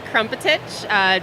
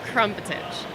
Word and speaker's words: Krmpotich: It's Krmpotich. Just you got to throw in a few extra vowels every time. But I promise that's how it's said.